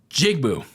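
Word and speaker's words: Njigba: like you know how to pronounce it a pronunciation and jigbu so there you go Jackson's son Jackson Smith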